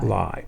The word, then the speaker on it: Ly: Lie. Well, it's I think it's pronounced Lee, actually. L Y. I know, but he's Asian. I think it's I think it's pronounced Lee as in L E.